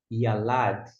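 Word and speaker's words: יָלַד: Número 8. Yud com o Kamitz fica Iá. L com a Lá. E aqui é o nosso Dalet. Yalad. Yalad é a ideia de trazer a luz, iluminar. Yalad.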